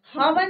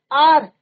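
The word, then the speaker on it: hour: हावन नहीं पढ़ना है बच्चों इसको। एच क्या है यहाँ पे? साइलेंट। एच क्या है यहाँ पे? साइलेंट है। क्लियर? अब प्रोनाउंसिएशन किसका हो रहा? ओ का। आर हम क्या बोलते हैं? एन आर।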